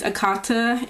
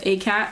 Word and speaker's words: ACAT: So this is from ACAT042001, and I know a lot of people are going to say her name is Akata, and that means cotton picker in a, like, African language. I don't remember which language. But I call her ACAT because it says ACAT, not Akata, because there's no A.